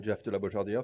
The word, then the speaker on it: Jeff de la Beaujardiere: So as Sarah said, I'm Jeff de la Beaujardiere. Thank you for your very good pronunciation.